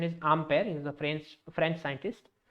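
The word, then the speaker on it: Ampère: There was a guy called Ampere. Its correct pronunciation is Ampere.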